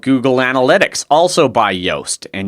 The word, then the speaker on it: Yoast: now is my SEO plugin and that's the Yoast SEO for wordpress plugin I'm not going to